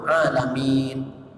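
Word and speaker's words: العالمين: kepada jamak alam itu alamin. Kalimatnya ain, jangan hamzah, alamin. Kalau salah tajwidnya bacanya alhamdulillahirabbil alamin, hamzah lain maknanya. Jadi itu ain, alamin.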